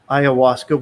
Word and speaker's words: ayahuasca: So you went to Costa Rica, you worked, pronounce it for me again. Ayahuasca? Ayahuasca, which is a psychotropic drug.